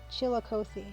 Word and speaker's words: Chillicothe: had a mochi doughnut okay chili chili cothy chillicothe ohio okay at least that's how it's pronounced in illinois chillicothe mochi donuts i'm gonna